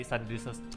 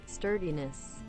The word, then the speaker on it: sturdiness: gunmaker, salah satunya adalah pengen ngurangin yang tadi stardiness, apa stardiness-nya? Tahu ah, bacanya apa sih? Gue buka Google Translate dulu. Sturdiness.